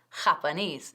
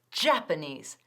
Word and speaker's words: Japanese: La pronunciación de Japanese es muy importante. No decimos Japanese ni nada de eso. Es Japanese. Eso es. El énfasis recae en la última sílaba.